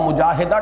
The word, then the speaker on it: مجاہدہ: گی۔ جہد سے مجاہدہ، اصل میں ہم مجاہدہ کہہ دیتے ہیں، عربی میں اس کا تلفظ مجاہدہ ہوگا، اس لیے کہ یہ باب ہے مفاعلہ۔ اور اسی کا جہاد۔